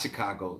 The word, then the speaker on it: Chicago: his family up the Mississippi in Chicago at Chicago that's how you pronounce it a Chicago yes I'm a CH